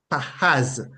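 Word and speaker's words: פחז: in the Hebrew it is translated or transliterated to English as p a c h a z and it is pronounced Paz Paz Paz meaning and um EOL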